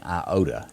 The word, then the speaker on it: Iota: Hurricane Iota is how you pronounce that.